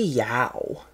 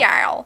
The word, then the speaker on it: Yow: It's Y-O-W. The Snarly Yow. Yow. Yeah. Yow! Like when you get, like when like you step on a hot coal, you're like, yow! The Snarly Yow.